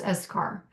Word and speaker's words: eschar: And eschar, or as some people pronounce eschar.